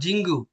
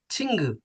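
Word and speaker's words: 친구: আর এটা কিন্তু জিউত, চ ছয়ের মাঝখানে, নট জ, নট জিঙ্গু, ছিঙ্গু, ছিন গু।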